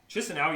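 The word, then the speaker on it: Chișinău: I'm gonna say this is Chinsinau. Chinsinau.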